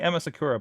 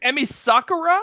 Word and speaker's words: Emi Sakura: Oh my God, I'm going to butcher the name. Emma, help me, Matt. Emma, I want to say Emma Sakura, but I don't think that's right. Emi Sakura?